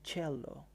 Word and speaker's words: cello: إذن هاي الآلة الموسيقية اسمها cello. نلاحظ pronunciation مالتها cello مو cello أو cello.